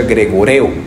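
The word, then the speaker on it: γρηγορέω: Cuando nosotros vemos en la Biblia esta palabra, viene de un griego que se pronuncia gregoreo.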